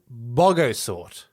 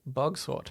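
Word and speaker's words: bogosort: found out about Quantum BOGO sort do you think that's how it's pronounced yes I actually thought initially it was just bug sword but he's putting extra oh yeah so anyway Quantum buggo sort a theoretical sorting algorithm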